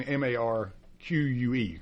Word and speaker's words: marque: And marque being M-A-R-Q-U-E, correct?